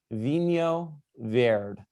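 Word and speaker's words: vinho verde: the pronunciation so uh at the very least you will leave being able to pronounce it vino verd um so that's my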